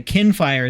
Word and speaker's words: Kinfire: How do you pronounce? Okay, Kinfire is how you pronounce this.